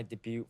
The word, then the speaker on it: debut: My debut photo and debut photo. That's T is silent.